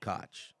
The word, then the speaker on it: Koch: um punters Koch yeah Koch pardon me Koch that's how you pronounce I never knew how